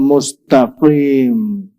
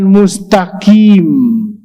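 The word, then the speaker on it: مستقيم: rusak ya iya ya dan bukan mustqim bukan tapi mustaqim kalau Bapak baca mustaqim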